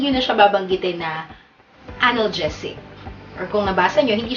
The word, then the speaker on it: analgesic: Karaniwan ang bigkas ng mga Pilipino diyan ay analgesic. Kung anong bigkas siyang sulat. Pero ang tama pong bigkas sa salitang ito ay analgesic. Ulitin natin. Analgesic. Analgesic. Okay.